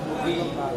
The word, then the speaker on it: Ui: Ya, dia dibacanya itu Wi. Kalau marganya biasanya Wijaya, Winata itu Wi.